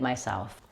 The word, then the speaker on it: myself: Doing it myself. For the word myself, make sure you stress self rather than my, not myself, myself.